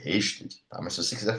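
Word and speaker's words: Ørsted: Então a pronúncia dele não é Osted, é Rested.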